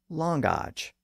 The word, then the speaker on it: language: And he specifically indicated that the word language was pronounced langage, without a W sound in the middle.